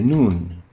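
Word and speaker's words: ن: top of it and it is similar to the english n pronounced in as in in it is similar to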